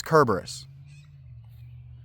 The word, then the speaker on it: Cerberus: a lancenated C, so they don't have a C that makes a S sound. In fact, they uh Latin has two letters that make the C sound. And so Cberus's name would be spelled with an S in Greek, and it's just not. So his name is Kerberus.